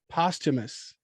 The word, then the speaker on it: posthumous: make sure we're saying it right hold on posthumous oh god i knew that was something i